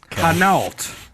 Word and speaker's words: Hainault: Hainault. It's some French. Why don't you spell that? Hainault. Okay. It's like Hanes, like underwear.